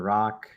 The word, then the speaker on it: Rak: my name is Dr Rock that's spelled Rak pronounced r-o-c-k and I am a